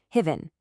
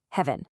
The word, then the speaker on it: heaven: Heaven. The correct sound is actually a short crisp e just like in the word bed. So the correct way to say it is heaven. Listen again. Heaven.